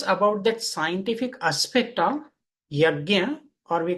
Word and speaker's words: yajna: So this is from the Sanskrit word yajna. What is yajna? So here we can see the two syllables, ya and gya.